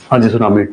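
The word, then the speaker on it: tsunami: झेलम अब मुझे बताइए कैसे cyclone and सुनामी सुनामी silent silent है जैसे कनो नहीं होता नो होता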